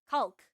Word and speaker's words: caulk: Caulk. It's like spelled like coaulk but it's said like You know I am not talking about penis.